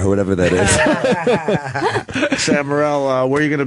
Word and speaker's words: Morril: And it's Morrill. Morril. RR? Morril. Oh, it's spelled two different That's ways what here.